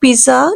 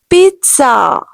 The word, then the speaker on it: pizza: This is not pizza, no way. This is pizza. The word is pizza. I want to have a pizza.